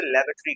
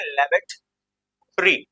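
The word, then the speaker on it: lavatory: जो होती है उसे लेवेटरी कहते हैं। अब इसे ऐसा नहीं बोलना, लेवेटोरी नहीं बोल रहे, इसे बोलते हैं लेवेटरी। ओ साइलेंट कर दे, लेवेटरी।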